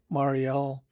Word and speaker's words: Montreal: Montreal, or according to their own pronunciation, Mariel was their depot.